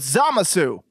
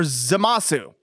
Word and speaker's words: Zamasu: Same thing with Zamasu. You guys pronounced that completely wrong. It's pronounced Zamas. Or Zamasu.